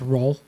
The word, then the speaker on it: Rouen: Day 4 is a sailing day, and you end in Rouen, or as they told us over and over on the ship, it's pronounced Roll.